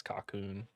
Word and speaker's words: Cocoon: Cocoon was my guess. Oh, Cocoon was the winner. I thought it was That's another pronounced. tally for old SMC. I thought it was pronounced Coco on, but Coco on.